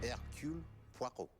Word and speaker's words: Hercule Poirot: Mesdames, Messieurs, I give to you Hercule Poirot. That's how you pronounce it, see?